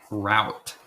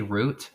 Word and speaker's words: route: in Cali not me how do you say route route do you really you say root yeah I say rot oh we took the wrong route rout I say root root 66 yeah I guess